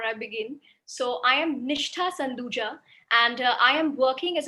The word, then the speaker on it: Nishtha Sanduja: much and just a slight correction to the pronunciation of my name before i begin so i am nishta sanduja and i am working as a partner under